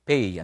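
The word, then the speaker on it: פא: yung ah pe or alam niyo po ang pronunciation dito yung sa P. Para pong ah yung P ey ano iba pa po yung pay na bayad e. Ito PY. So pay ano po.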